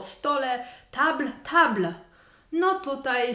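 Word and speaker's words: tables: stół to t a stoły to Table to s na końcu jest niemy my tylko w pisowni widzimy że to jest liczba mnoga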